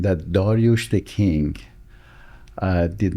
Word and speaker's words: Darioush: And we choose the American pronunciation of the Darush which is Darius.